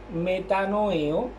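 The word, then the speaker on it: μετανοέω: Entonces, el arrepentimiento, esta palabra que encontramos aquí, significa volver a Dios, y eso viene del griego que se pronuncia metanoeo y del hebreo teshuvah.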